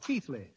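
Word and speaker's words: Keighley: Janet I certainly am my people came from the English town of Keithley spelled the same way as I spell my name ke i g h l y well Mr is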